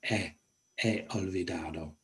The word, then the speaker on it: he olvidado: Don't pronounce the H, it's not he or he olvidado, he olvidado.